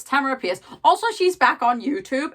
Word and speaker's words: Tamora Pierce: so I have been apparently saying Tamara's name wrong for years because I've been calling her like tomorrow appears that's its Tamara piers also she's back on